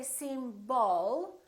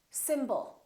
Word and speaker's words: symbol: we have two syllables the first syllable is stressed and the second syllable is reduced when we have a reduced vowel we don't pronounce it fully we don't say seem ball we reduce it and